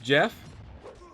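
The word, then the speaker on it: Geoff: Oh, it's called Jeff? I mean, pronounced Jeff? But you have a O in there. No! No silent letters, man.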